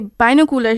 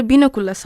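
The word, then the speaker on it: binoculars: আমরা যে শব্দটিকে বাইনোকুলার হিসেবে বুঝে থাকি সেটা আসলে বিনোকুলাস হবে।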